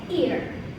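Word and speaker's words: heir: Ear. There is H here, but that's silent letter, so we just pronounce it ear.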